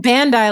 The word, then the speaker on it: Bandai: Like, maybe it was Bondi that did it. I think Bondi is the owner of Cardass. Why are you saying Bandai like that? Uh, because that's how it's pronounced.